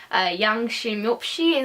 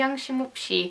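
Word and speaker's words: 양심없이: Yangshimupshi is how you say it, Yangshimupshi.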